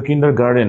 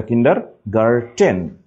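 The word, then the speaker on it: Kindergarten: কিন্ডার গার্ডেন বলি আমরা এটা কিন্তু কিন্ডার গার্ডেন না এটা কিন্ডার গার্টেন জার্মান শব্দ কিন্ডার গার্টেন এখানে কিন্তু শেষে গার্টেন ইট ইজ নট গার্ডেন okay so কিন্ডার গার্টেন this is কিন্ডারগার্ড ওকে গার্টেন কিন্তু গার্ডেন না আবার ইন টিউশন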